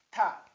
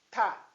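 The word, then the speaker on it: تاء: Ta é a terceira letra da língua árabe e a sua pronúncia equivale a T com A. Ta. Ta.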